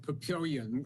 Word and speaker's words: Papillion: pronounced in france but they pronounce it papillion as in pavilion yeah you know it's